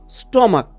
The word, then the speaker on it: stomach: যেমন এক্সাম্পল তোমরা দেখো, স্টমাক, STOMACH, স্টমাক, এখানে কিন্তু লাস্টের সিএইচ এর সাউন্ডটা কয়ের মতো হচ্ছে, তার জন্য এটাকে আমরা